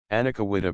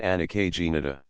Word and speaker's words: anacahuita: Anacahuita palabra de origen mexicano, aplicada a un árbol medicinal. Cordia boiserie. Algunos pronuncian anacagenita.